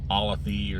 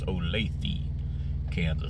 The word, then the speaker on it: Olathe: and somebody uh uh corrected me about the pronunciation I think I was calling it alathy or something like that but it's Olathe which is uh you know it's like southwest